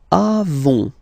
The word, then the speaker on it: avons: Then, nous avons, final S not pronounced, avons, okay?